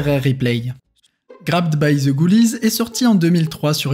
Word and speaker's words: Ghoulies: Sauf qu'en anglais, un autre mot est phonétiquement identique à Ghoulies.